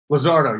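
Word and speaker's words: Luzardo: power lin and lizardo is that how you pronounce his name lizardo yes yes lizardo those are the only three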